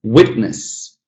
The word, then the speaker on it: witness: Regardless whether it's a noun or a verb, it's going to be that stress on the first syllable.